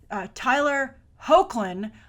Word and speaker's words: Hoechlin: All right, but anyway, we're here to talk about Tyler Hoechlin. I looked it up. I believe that's how you pronounce his name. Not how I would have guessed.